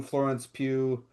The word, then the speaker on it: Florence Pugh: the movie is good, and the the new Florence Pugh Did I pronounce that right? Yeah. Thank god. Uh the new Florence Pugh Black Widow is great and maybe arguably better